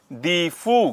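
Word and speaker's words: Diphu: भानु मिश्रा दीफू देखो दीफू की ना स्पेलिंग जो है वो डी आई एफ यू के साथ-साथ आप लिख सकते हैं उसे याद करने के लिए लिख लीजिए लेकिन दीफू की स्पेलिंग जो रहती है वो डी आई पी एच यू लिखी हुई है वहां पर तो आप डी आई पी एच यू लिखें तो वो ज्यादा ठीक है क्योंकि क्या होता है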